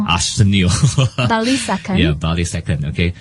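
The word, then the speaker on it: Arsenio Balisacan: The National Economic Development Authority Director General how to pronounce the name? Arsenio Bali second.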